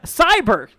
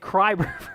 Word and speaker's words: Cyber: Sorry, I read your name wrong. Cyber, gotcha. I said Kryber. I'm so sorry, dude.